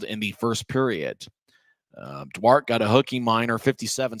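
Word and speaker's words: Duarte: lead about three minutes later it was Mark dwart and according to the Rapid City notes that's how you say his name even though a lot of people would say dwarte based on um you know people have similar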